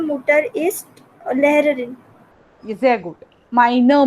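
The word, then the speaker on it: meine: माइनर मुटर. Okay, बाकी सब कुछ करेक्ट था, सिर्फ वो जो ई का प्रोनाउंसिएशन है ना, that is very important in German language. Okay, तो इसलिए माइनर मुटरिस्ट.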